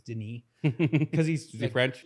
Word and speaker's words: Denis: His name looks like it's spelled Dennis, but it's Denis because he's Is he French?